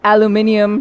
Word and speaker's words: aluminum: So I have now officially gone from talking about alum aluminium to aluminum which is the American pronunciation.